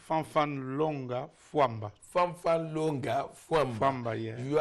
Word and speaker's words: Fanfan Longa Famba: Fan Linga Fia. Please, what's the correct pronunciation of your name? Fan Longa Fua.